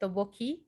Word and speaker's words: tteokbokki: So mm, they only had like how do you pronounce that? Tteokbokki.